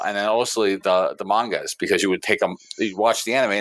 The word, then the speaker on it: manga: for your I believe it's pronounced uh ma m manga Magna Magna Magna called mag it's mag I'm 110% sure it's not Magna you know G read